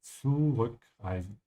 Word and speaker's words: zurückreisen: Remember when you pronounce that sound, it has to have a t sound in the beginning. Zurückreisen.